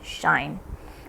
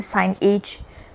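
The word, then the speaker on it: sinh: And this over here, if you notice, I'm pronouncing this as shine. So there are multiple ways of pronouncing this.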